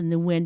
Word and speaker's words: Nguyen: me at senator.nwin and I pronounce the new wind because then that's easier for people to know that it has an end to it um and that's n